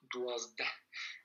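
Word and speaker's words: dwazdeh: Alors là, le H à la fin, on n'appuie pas trop là-dessus. Hein. C'est comme si c'était un H muet, presque. Yansde, Dwazde. À l'oral, on le prononce pas trop.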